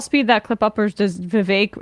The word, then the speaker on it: Vivek: that clip uppers does Vivek it rhymes with cake have the same speaking